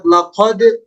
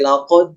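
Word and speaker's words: لقد: ayat keemp pada kalimat laqad ya untuk huruf Qalqalah ini kesalahan pengucapan paling banyak memang terlalu ditahan ya seperti laqq terlalu ditahan padahal yang tepat Insyaallah itu langsung dilepaskan makhrajnya laq laqqq Nah nanti latihan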